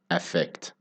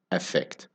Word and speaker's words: affect: the word effect and effect they sound almost exactly the same when they are spoken naturally effect and effect in both words the stress is on the second syllable so the unstressed syllable